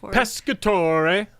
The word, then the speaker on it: Pescatore: You have to say it like pescatore. Pescatore. It means fish in Italian.